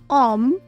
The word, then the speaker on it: homme: Words which begin with a silent H. Homme, hôte, hiver, hôtel, horloge.